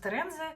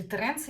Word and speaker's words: Terenzi: Собственно говоря, их и создал Паоло Терензе, такой более бюджетный вариант ароматов Терензе, или Теренце, если правильно их произносить.